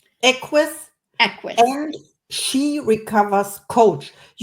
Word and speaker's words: Equus: I know it's Latin also, coach, master facilitator, but you have to help me with the pronunciation. Is it? Equus. Equus.